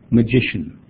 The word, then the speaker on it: magician: course we need to get the stress on the second syllable so I might try I might say Hey listen to me guys magician where's the stress and